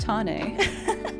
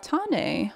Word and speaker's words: Tane: It's pronounced Tane. You know what? I'm gonna see if I can set it over here. There we go. It's pronounced Tane, like seed.